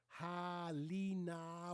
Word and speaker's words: Halina: Halina, wide open A.